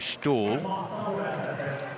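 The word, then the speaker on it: Ståhl: spelt style but apparently in the local lingo you do pronounce his name stall and his open up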